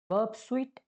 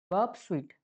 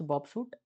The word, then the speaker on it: Burp Suite: them now most popular proxies we have is BB suite and zap okay now BB sweet pronounced as BB fruit or sweet okay most